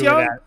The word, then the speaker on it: Jung: It is Young.